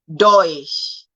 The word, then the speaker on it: Deutsch: And then we have the umlaut or EU, which sounds like oil. The oil in oil and the OY, oil in oil. So we have euro, we have neu, Deutsch, and then you know that it is Europa League.